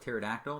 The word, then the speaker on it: pterodactyl: The P is silent, so it's like pterodactyl, the pterygoid processes that we see extending down there.